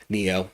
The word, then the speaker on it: NIO: So, MU, Google, Sofi, Bull, Nio, Neo, sorry, Neo, I think is what we decided how we're going to pronounce that.